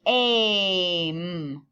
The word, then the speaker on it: aim: and adding the letters the first two are magic e words the e is making the vowel say its name so this is saying aim but the e is silent right just put a line here because it doesn't talk and then this is i'm e doesn't say anything so make some new